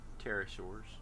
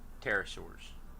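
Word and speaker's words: pterosaur: Why does it have a P at the beginning of it?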